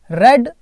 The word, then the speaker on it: read: वे तीन पुत्रों ने रेड द विल पढ़ी रीड की पास्ट फॉर्म है रेड स्पेलिंग वही है पर पढ़ते अलग है थोड़ा सा है ना रेड